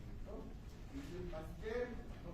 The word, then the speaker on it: Pasteur: Dice Pasteur, no Pasteur.